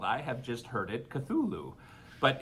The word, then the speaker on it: Cthulhu: I have just heard it Cthulhu. But it's spelled very strange.